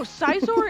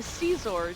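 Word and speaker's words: Scizor: No, Sizor is, like, a perfectly, like, acceptable... Yeah, like, Sizor, as I was saying, is like how I pronounce it. yeah, I say Caesar just because, like, I don't know why.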